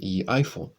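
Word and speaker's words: Haythorne: "Spell it." "H-a-y-t-h-o-r-n-e, Eyethorne."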